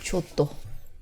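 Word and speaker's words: Giotto: 지오토, 예, 그 데카메론 나오는 지오토, 네. 조토. 지오토. 예. 근데 쪽 현지 발음은 조토입니다. 조또.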